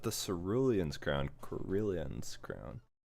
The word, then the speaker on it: Cerulean: to this brilliant ground that's it's karelian korean that's cerulean i don't know why brilliance